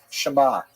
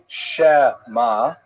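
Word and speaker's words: Shema: And that's like kind of a partial pronunciation like the word uh shama, right? Shama. You don't say shamma. You don't say schma. It's shama. It's a little bit of a gap in there.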